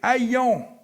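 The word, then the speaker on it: αἰών: prononcer comme il faut, c'est aion, A-I-O, avec un petit chapeau, N, qui désigne non pas la planète Terre, mais l'esprit du temps.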